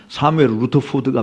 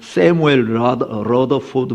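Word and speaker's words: Samuel Rutherford: 발음해 가지고 미국식 미국식 미국 사람들은 발음을 사무엘이라 이라고 안 하고 세무엘이라 그러잖아요. 그러니까 또 루터포드라고 안 하고 러더포드라고 이야기하고 근데 원래 스코츠이 사람이니까 그냥 사무엘 루터푸드가 맞아요 발음이.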